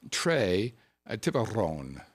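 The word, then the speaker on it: Tres Tiburón: Tres Tiburon. You must roll your R's.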